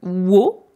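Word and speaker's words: を: Ensuite, on a la particule de COD, la particule wo, qui se prononce plutôt o, même si parfois dans les chansons, on peut entendre ce W un petit peu exagéré.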